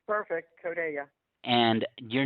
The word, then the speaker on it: CODeLLA: We are so lucky to have Josie from CODeLLA. I think that's exactly how it's said. I'm going to let her correct me if I'm wrong. No, it's perfect. CODeLLA.